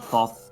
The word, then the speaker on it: Thoth: to pronounce I think I think it varies like the pronunciation of Thoth I I've always said Thoth but I've heard Toth as well I certainly I don't